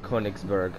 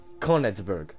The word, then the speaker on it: Königsberg: Alright, we're gonna be using Königsberg. Yes, that's how it's said, motherfucker. Königsberg.